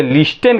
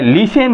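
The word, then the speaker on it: listen: आई एस टीई एन इसको हम बहुत लोग जो है लिस्टन कहते हैं लेकिन नहीं यह लिसन है टी क्या है यहां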